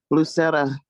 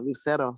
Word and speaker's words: Lucero: how you could join lucera um i said your name wrong lucero sorry um i just did